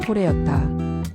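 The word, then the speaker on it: Kore: 카페 이름은 한국의 터키식 발음인 코레였다.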